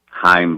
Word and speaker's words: Chaim: And, it's disappointing, but I know that Chaim Bloom, and I've learned that C is silent over the past year